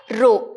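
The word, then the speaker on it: ρ: This is the symbol in order to represent the density, which is pronounced as rho, R-H-O.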